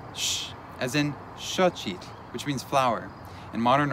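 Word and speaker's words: xochitl: pronounced sh, as in shochit, which means flower. In modern orthography, it's also represented by an X. It's similar to the sh sound in the English word shine.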